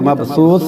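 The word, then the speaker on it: مبثوث: जब हम यहाँ ठहर जाएंगे तो मबसूस कहेंगे।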